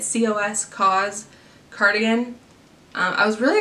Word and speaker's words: COS: next was this cause I know how you say it cos cause cardigan I was